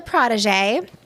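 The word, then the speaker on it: protégé: Well, protege, that's how we pronounce it in the guild. I'm not sure exactly what you're getting at or trying to imply, ma'am. But I am a protege. It's the French pronunciation.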